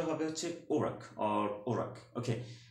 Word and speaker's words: Iraq: ওকে, American ইংলিশে এই উচ্চারণটা হবে হচ্ছে ওরাক অর ওরাক। ওকে, উচ্চারণটা সঠিক উচ্চারণটা কি? ওরাক। এবং ব্রিটিশ ইংলিশে সঠিক উচ্চারণটা কি হবে? এরাক, এরাক। কিন্তু সঠিক উচ্চারণ নয় কি? ইরাক, ইরাক।